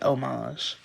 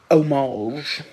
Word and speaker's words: homage: the word I would still say homage and did y need to know that no you didn't but I'm telling you anyway I could care less I'm still going to say omage I'm saying it right okay okay good okay